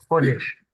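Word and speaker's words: חודש: dise pas de bêtises, Chet, qui est prononcé comme un R. C'est pour ça qu'on dit Roche, Chodesh.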